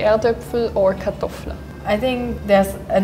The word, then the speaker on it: Erdöpfel: So Erdöpfel, we say like, I think it's like a hidden H in it.